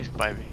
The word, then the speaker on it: Spivey: How do I pronounce it? I say Spivey.